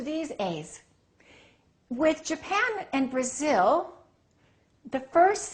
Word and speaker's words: Brazil: same thing with this what do we say Brazil I am from Brazil no this is no longer a it's uh Brazil Brazil so you see you